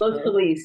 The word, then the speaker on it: Los Feliz: Not only that, but she's she's um wherein you're at the Los I think you pronounce it Los FileZ or Los Feliz House. Los Feliz. Yeah.